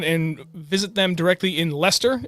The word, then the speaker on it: Leicester: visit them directly in Leicester it doesn't look like it's pronounced Lester but it's Leicester Massachusetts lead catch Chester